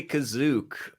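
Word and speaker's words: Kashyyyk: to know right Adam they do say kazuk um you know that's how that's one way of saying kashyyk I think it is Canon I think it's maybe even the correct way that's how they say it wow how do you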